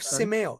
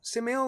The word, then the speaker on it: Simeio: Matter of Simeo. Simeo was the company.